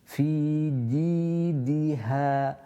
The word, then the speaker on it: في جيدها: The jim here doesn't have any air that's accompanied with it, so it's a pure sound created from or pronounced from the middle of the tongue. Fi ji. في جيدها في جي جيم كسرة يا.